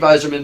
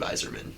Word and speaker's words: Yzerman: I would say when you hear his name pronounced, you would never guess it's with a Y. Yeah, I know. Like every time I hear Like you the say it, I'm spelling like of that it? just doesn't sound right. Does not sound the way it's spelled. You think it'd be like Weiserman?